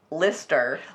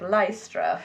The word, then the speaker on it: Lystra: there's also a street that's called lister lister but the way it is spelled lystra it looks like lystra so england you do